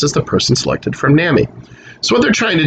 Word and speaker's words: NAMI: for the mentally ill so it's pronounced nami almost all of whom